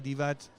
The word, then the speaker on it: Divac: 40 35 years yeah he said the sea is not a c exactly no that's I remember